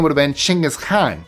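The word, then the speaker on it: Genghis Khan: He was Mongolian so he would not have called himself Gangghis Khan. His name would have been Chingis Khan. That's how it's pronounced in Mongolian.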